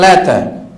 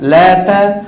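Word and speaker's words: اللات: mengatakan untuk alata patung Lata Sebagian ulama menyebut asalusul patung Lata ini ya ada yang menyebutnya dengan sebutan Lata ada yang menyebutnya dengan sebutan lat pakai tasdid lat ya Sebagian ulama membacanya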